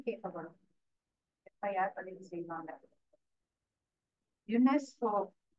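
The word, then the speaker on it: UNESCO: எப்ப யார் பதிவு செய்வாங்க யுனெஸ்கோ யுனெஸ்கோ யுனெஸ்கோ இஸ் அக்ரன்ட் then spelling it அஸ் a word United agent அந்த எழுத்துக்களை உச்சரிக்கும் பொழுது ஒரு வார்த்தையை எப்படி நம்ம ப்ரொனௌன்ஸ் பண்றோமோ அப்படி ப்ரொனௌன்ஸ் பண்ணனும் இது எங்க மேம் வார்த்தை அப்படின்னு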